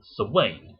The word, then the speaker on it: Samhain: Many people pronounce it Samhain or Samhain. I prefer Samhain.